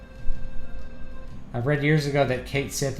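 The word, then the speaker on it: Cait Sith: I've read years ago that Kate Sith is pronounced like Ketchi.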